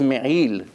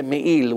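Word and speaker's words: מעיל: Okay, really the right way to say it's me'il, im ayin. Ayin, it has to come from the throat. Some people, they don't separate. They say me'il with aleph, it's not correct.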